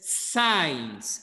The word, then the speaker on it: science: Esa palabra que tiene una SC es science.